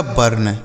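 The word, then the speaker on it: burn: बी यू आर एन इसे पढ़ा जाएगा बर्न।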